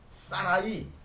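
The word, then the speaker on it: שָׂרַי: 사라이. 히브리어 발음으로 사라이.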